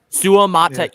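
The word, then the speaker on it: Suamataia: however you say ITA Su mat six syllables Kings Le Su mat I might have had that in my because it's you pronounce every every vow right every vow yep every vow I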